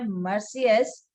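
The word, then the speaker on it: Marseillaise: एक था मर्सियस, जिसे हम प्रोनाउंस करते हैं मर्सियस।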